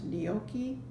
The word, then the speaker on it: gnocchi: Silent G's start all of those words, gnome, gnat, gnocchi.